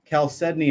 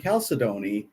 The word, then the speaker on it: chalcedony: And then there's chalcedony and chalcedony, and the dictionary says both of those pronunciations are correct. And I say chalcedony, but I have to say chalcedony in my head so that I can I can spell it correctly.